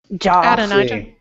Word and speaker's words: Adonijah: Adonijah.